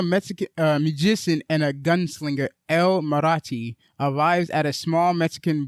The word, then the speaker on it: El Mariachi: So and the pronunciation of his title is El Mariachi. El Mariachi. El Mariachi, and that's in reference to the first movie.